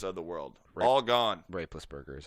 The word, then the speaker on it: Roethlisberger: the ben roethlisbergers of the world all gone rapeless burger is how you pronounce that yeah well now tom brady was